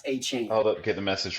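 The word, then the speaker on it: Achane: e at the endang he said it's it's pronounced a chain hold up get the message right here it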